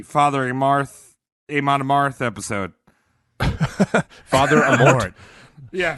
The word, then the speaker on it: Amort: Father Amort. Yeah, Father PH is silent. Amort.